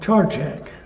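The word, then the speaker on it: Čačak: to a place called Charchak. I think I'm pronouncing it quite right, but C-A-C-A-K was the way they spelled it.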